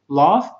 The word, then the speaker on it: laugh: picture بعدها laugh at jokes. خلوا بالكم هنا GH منطقة ف laugh at jokes.